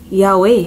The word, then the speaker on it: Yaweh: It's pronounced Yaweh.